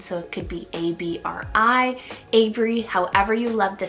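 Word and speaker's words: Abrie: It could mean red if it's spelled differently, and it could mean pathway. I have the name Abry, spelled A-B-R-I-E, Abry.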